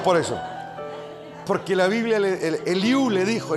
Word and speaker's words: Eliú: Porque la Biblia, Eliú le dijo, Eliú con acento en la U, como dice nuestro Eliú acá.